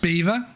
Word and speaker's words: Belvoir: I don't think the name's Belvoir Belvoir, pronounced Beaver.